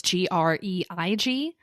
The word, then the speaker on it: Greig: Probably Greg is actually pronounced a different way. It's Greig. But let's just say Greg with confidence.